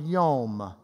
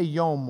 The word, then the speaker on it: yom: It is the word yom. Yom. Just say yom with me. Yom. We would spell it Y-O-M.